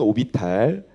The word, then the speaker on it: orbital: 네, 옛날 발음으로는 오비탈, 네, 요즘 발음으로는 orbital이라고 합니다.